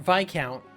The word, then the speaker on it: viscount: aristocrats some prefer a viscount, or viscount, which I learned recently that's how you're supposed to pronounce it, prefer a viscount when they could have a duke instead.